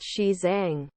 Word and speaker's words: Xizang: Xizang is the standard romanization of the region's Mandarin Chinese name, roughly pronounced Xizang.